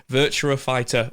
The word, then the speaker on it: Virtua Fighter: I was going to say it wrong again, Virtua Fighter 1 skin.